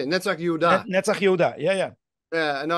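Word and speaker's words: נצח יהודה: Netzach Yehuda. Yeah. Yeah, no, I put the accent on the wrong syllable.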